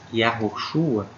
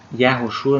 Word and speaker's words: Yahushua: Senhor, é a salvação, que em hebraico nós dizemos Yahushua. Yahushua, na verdade, ele tem a primeira sílaba que vem do Yah, que é uma abreviação do tetragrama, as 4 letras gramaticais. Yah, que significa Senhor, e Roshua, que significa em hebraico salvar ou retirar. Quem lembra de João Batista